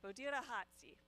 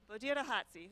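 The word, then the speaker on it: Bodiragatsi: Bodira Hatsi. So you roll your R a little bit, and the G is like an H with a little bit of phlegm. Bodira Hatsi. So like bo, deer, hot.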